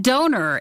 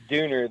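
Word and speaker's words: Döner: Now, see, we always call it donor. Is it Dooner? It is Dooner. There are two dots above the O. Yeah. And it actually makes a U sound.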